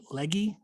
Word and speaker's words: Legge: Today's session is being led by Legge. Is that how you say it? It's just Legge, actually.